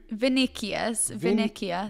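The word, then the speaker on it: Vinícius: Yeah, how do you pronounce his name, though? Oh, fucking no. Vinicius.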